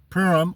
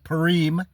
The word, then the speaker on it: Purim: get the word Purim, the feast of Purim, or Purim, depending on where you're at, is how you pronounce it, Purim.